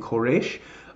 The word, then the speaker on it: Koresh: under the rule of a man named Koresh Cyrus is how we say it in English but Koresh is how they say it in Hebrew many exiles were permitted